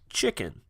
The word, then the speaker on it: Xuiquen: album with his band, Chicken. And it's not spelt like you would think, it's actually spelt Xuiquen, but he assures me that it is pronounced chicken.